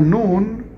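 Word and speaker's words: נון: hebreo es lanús letra nun sí las letras no un es la m sí letra n tampoco tiene dificultad en su pronunciación porque es como una n en español la letra nun también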